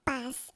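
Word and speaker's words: paix: La palabra P, o sea, paz en francés, escribe P A I X, pero se pronuncia P, o sea, como una P E o una letra P.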